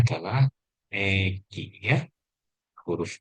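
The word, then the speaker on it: 駅: Baik, ini cara bacanya adalah Egi ya.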